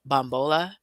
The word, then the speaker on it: Bambola: today's expert and Talia forgive me if I say your last name wrong is it bombola okay beautiful so super excited to